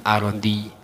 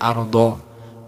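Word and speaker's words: الأرض: Jadi harusnya dibaca mim masyarikil ardi, bukan dibaca mim masyarikil ardo, apalagi mim masyarikol ardi.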